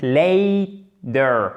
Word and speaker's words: later: L'accent tonique, la déformation de la consonne, etc.